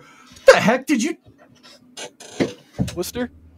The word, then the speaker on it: Worcester: Lester that's hey Ryan Worster Worster now we're now we're just saying Worster what the heck did you Worcester Worcester wer Worcester wer it's wer wer Mass wait yeah why are